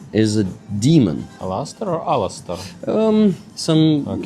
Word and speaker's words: Alastor: What the spirit represents, they told me the right pronunciation. Okay, it's just name from Harry one of Harry Potter character and there was Alastor Aha.